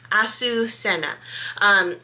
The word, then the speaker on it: Azucena: So I have listened to Google and I'm hoping that now I'm doing it better. Azucena.